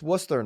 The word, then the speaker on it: Worcester: the surrounding area of Louisville number three uh Worcester Mass a lot of people would read that Worchester it's Worcester it's Worcester Nicole a fun fact for the kids out